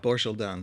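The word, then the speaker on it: Borschel-Dan: describing, I forget, I'm going to get her name wrong. Banshel Dorshel Dam. Amanda. What is it, Amanda? Borshel Dan.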